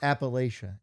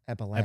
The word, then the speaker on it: Appalachia: Not Appalachia. Appalachia.